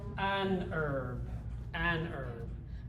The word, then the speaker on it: herb: An herb. But my wife, who speaks British English, she pronounces the H.